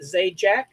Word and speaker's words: Zajac: Zajac, right? Is that how you say it? Zajac? Yes. Okay. Just like Pat.